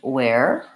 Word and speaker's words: wear: All of these just have the W, the A, and the where.